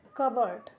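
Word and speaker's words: cupboard: दीप हिंदी मतलब दीप होता है सैमन यल साइलेंट है यहां पे सेमन हिंदी मतलब होता है मछली ठीक है कबो जिसे हम कबर्ड पढ़ते हैं कबर्ड कबर्ड हिंदी मतलब होता है अलमारी क्या होता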